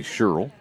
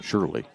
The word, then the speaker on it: Sherrill: Inbounding it will be Sherrill. May have said that wrong. Shirley is the way it's pronounced.